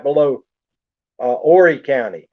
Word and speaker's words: Horry: there it's funny because georgetown's right below uh horry county h-o-r-r-y it's pronounced horry county horry county is where myrtle